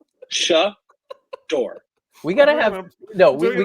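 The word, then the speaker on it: Shedeur: what did you what shair it's not share what is wrong with you how do you pronounce it shador okay sh shair Oh sha door we gotta have no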